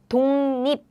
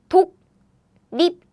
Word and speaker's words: 독립: Now this air blocking sounds meet 짠 nasal sound. So to pronounce it easily, it becomes nasal sounds like 독립, 독립.